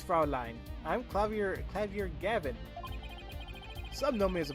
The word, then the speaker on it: Gavin: kept saying Gavin and the only reason why I kept saying gav is because I know somebody who pronounces it like gav so I'm like that's how I went with it but no prosecutor Gavin prosec Gavin what are